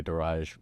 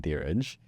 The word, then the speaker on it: Diraj: One, I love the way you say my name because it's how you pronounce it in Punjabi. But I usually go by Diraj rather than Diraj, because that's just how it's been pronounced since I was in grade 8 when I first came here.